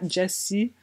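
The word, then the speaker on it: Gyasi: de finir Homegoing par, je pense que c'est prononcé Jessie. C'est comme quasiment Jessie, le nom de famille. Salut, excusez la mauvaise qualité, je voulais juste préciser que c'est vraiment Jessie, prononcé comme Jessie.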